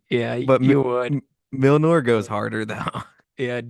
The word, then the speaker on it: Mjolnir: Isn't it like Milnor? Milnor. To be a fucking neckbeard, actually, it's Mjolnir. Yeah, but you would. Milnor goes harder though.